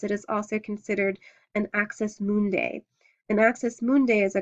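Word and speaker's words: axis mundi: to the gods it is also considered an axis mundai an AIS mundai is a cosmic or World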